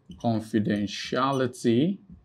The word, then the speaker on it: confidentiality: So here you have words like confidentiality.